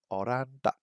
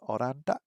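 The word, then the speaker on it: オランダ: think we learned was oranda which sounds like Holland I guess oranda uh Germany is not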